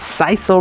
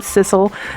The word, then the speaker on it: sisal: It's sisal rope, not sisal. So I'm correcting it now.